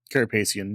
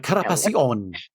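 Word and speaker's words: Carapaceon: Carapacian, yeah. Carapacian. You got it right. No, I was like carapacion.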